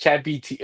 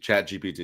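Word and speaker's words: ChatGPT: I think I asked Chat BT. I don't know how to pronounce that. I'm old. I think it's Chat PT, right? Chat PT, is it, or is it Chat BT? GPT. Chat GPT.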